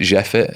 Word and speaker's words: JEFIT: I use an app called I never know how to pronounce it. I pronounce it Jeffit. It's JEFIT. Okay. I always think it sounds a bit French, so I always pronounce it in a very weirdly French way.